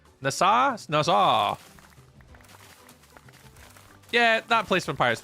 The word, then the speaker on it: Nassau: You were figuring out how to pronounce the city from the Pirates of the Caribbean, saying NASA. Nassau.